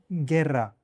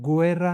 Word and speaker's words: guerra: When GU is followed by E or I, the U is usually silent. For example, guerra.